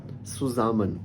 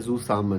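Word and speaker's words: zusammen: इसी तरह बहुत से जो बच्चे हैं, वो एक वर्ड है सुजामन, इसको पढ़ते हैं जू सामन ना, क्योंकि वो इंग्लिश में हम इसको जी पढ़ते हैं, जेड को, एस को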